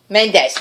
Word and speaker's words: Mendes: Menendez? How do you say his name? What do you say? Mendes.